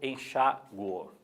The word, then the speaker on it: enxaguo: Então, por exemplo, pode ser eu enxaguo, a sílaba tônica é no U, sem acento.